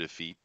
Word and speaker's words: effete: Did I just use the word effete? you did. Damn it. Mm-hmm. That's okay. I mispronounced bosom and said buxom, but No, it's all right. effete is the correct pronunciation.